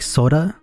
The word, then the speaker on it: Sora: I know it should be pronounced like soda.